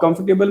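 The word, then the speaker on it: comfortable: तो unpleasant is the correct answer, not pleasant, कंफर्टेबल, और कंफर्टेबल में बेटा ओ आर साइलेंट होता है, कंफर्टेबल बोलते हैं, कंफर्टेबल नहीं होता, ठीक है।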